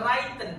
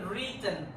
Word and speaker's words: written: imaginative story in written Bukan wren tapi written written w-nya gak ada hilangkan jadi written written or verbal Which